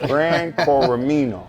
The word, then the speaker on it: Gran Coramino: Make sure I add the Gran first. Gran Coramino. Yeah.